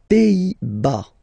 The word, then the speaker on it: Pays-Bas: Les Pays-Bas. Final S here, not pronounced. Same thing here. Pays, pays, and then bas.